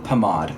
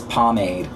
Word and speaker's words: pomade: set the record straight in France it is pronounced pomad and the word pomad comes from France so technically I'm pronouncing it right and y'all are all y'all American is Pomade y'all sound dumb it's